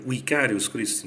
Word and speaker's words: vicarius Christi: A palavra vicarius Christi, né, perdão, vicarius Christi, né, seria uma pronunciação mais correta no estilo clássico, né?